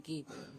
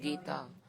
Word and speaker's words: Geet: And in Srimad Bhagavatam it is Brahmar Geet, Gopi Geet, not Gita. There is not extra A in the end. Yugal Geet, Mahishi Geet, these all are being sung. They are not pronounced as Gita.